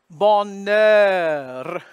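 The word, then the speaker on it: bonheur: silent in French and H is one of those it is silent here so you would think it would be a nasal vowel because of the spelling but this is an exception to the rule so it's going to be open ball and then the end because the H is silent goes over to the N and then the vowel balnaird and then you flip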